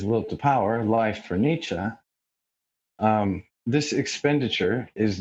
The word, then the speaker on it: Nietzsche: themselves but after expenditure there is more for nietzsche that's how you say it after reduction there's